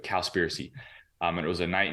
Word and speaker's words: Cowspiracy: were watching the documentary it's called cowspiracy so like conspiracy but cowspiracy um it was a